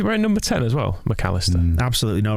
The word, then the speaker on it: Mac Allister: having a silly name that is apparently pronounced mcallister but the voice in my head can't help but pause between mac and alistar like i just did mac allister because he's not gary